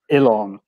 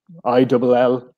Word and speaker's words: Ilon: with the name, because it's not pronounced the way it's written. It's written Olean, right? But yep. It's pronounced Ilon, as in Illawn, right? Ilon, if you're to spell it phonetically, right?